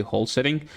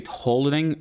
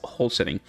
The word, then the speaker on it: Holsring: Uh the champion I'm talking about here is actually wholesing. Some people say holing. I feel like there is an S. It's right there. So it's supposed to be pronounced. So it's whole setting.